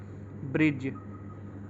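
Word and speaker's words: bridge: कुछ एग्जांपल दिए हैं ब्रिज ब्रिज की स्पेलिंग होती है बी आर आई दी जी इसको बृज बोला जाता है लेकिन बहुत से बच्चे को ब्रिज ना बोलकर ब्राइट जो बोलते हैं इसको ब्रिज ना बोलकर ब्राइट बोलते हैं लेकिन बच्चों इसकी सही प्रनंसीएशन होती है यहां पे दी साइलेंट है क्योंकि ये जी से पहले आया है तो इसलिए जो भी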